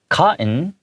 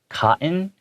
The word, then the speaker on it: cotton: So the way I read cotton, you can... Cotton. Yeah, you can say cotton, but I usually take out the hard T sounds in the words.